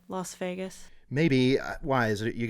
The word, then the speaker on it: Las Vegas: You're saying Vegas, like vegetable.